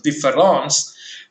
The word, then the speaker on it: différence: But Derrida, for the first time, introduces a new letter in the spelling of the French word normally pronounced as différence, but obviously it is written with E, D-I-F-F-E-R-E-N-C-E.